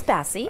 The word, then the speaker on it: Basi: I did say your last name wrong there too, didn't I? It's Basi. Basi.